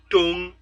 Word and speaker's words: tong: The third meaning of tong is tung. It is now not being pronounced as tongue, but tung, but the same spelling.